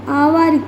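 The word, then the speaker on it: hour: जब आप घंटों की बात करते हो आवर की तो इसमें साउंड एच साइलेंट हो जाता है। एक्चुअली इट्स अ वर्ड ओ यहां पे ओ साउंड आपको सुनाई देगा।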